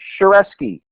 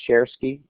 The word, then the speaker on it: Shareski: to do um you can connect connect me shareski is how you pronounce it some people call it sherki I'm fine with either and Dean there we